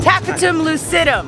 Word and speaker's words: tapetum lucidum: I always need my friend Savannah at Gatorland because I always forget how it's pronounced. Tapetum lucidum.